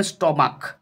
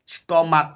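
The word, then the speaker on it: stomach: কিন্তু এড করবো যেমন স্টমাক স্টমাক সিএইচ এর উচ্চারণ এখানে ক স্টমাক তার জন্য এখানে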